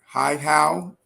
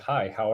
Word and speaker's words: Hihow: So is it Hihow? Did I pronounce it correctly? Oh, great. That is perfect. I I like to help people out. It's like, hi, how are you?